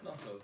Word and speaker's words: knoflook: Knoflook, yeah.